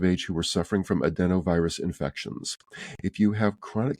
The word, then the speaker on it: adenovirus: that's actually got a a pronunciation is a d n o virus so uh for adults over 18 years of age who were suffering from adenovirus infections if you have